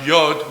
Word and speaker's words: Yod: And first letter is pronounced Yod, meaning representing hand.